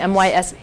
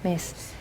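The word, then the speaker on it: Myss: set with Carolyn Miss am I pronouncing her name mys mace M my SS it's a German okay mace it's love it's very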